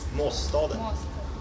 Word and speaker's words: Måsstaden: Could you tell me how I pronounce that master then? Måsstaden.